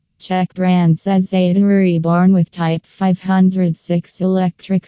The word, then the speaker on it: Cezeta: The original Cezeta, pronounced Chuh-zeh-tuh, Type 501, was introduced